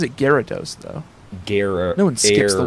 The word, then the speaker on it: Gyarados: Which I think maybe proves that it's pronounced Gyarados, because I think the pun is supposed to be over the air.